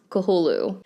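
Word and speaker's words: Cthulhu: cth U lhu according to Wikipedia it is pronounced kahulu similar to sanity's requium this game was also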